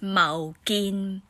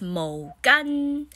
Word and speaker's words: 毛巾: Sorry, I just forgot how to say it in Hakka, but it's mow-geen. Mow-geen. And Cantonese is mo-gann.